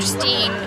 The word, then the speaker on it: Steen: he looks at us my name is dr steen it rhymes with me a long pause don't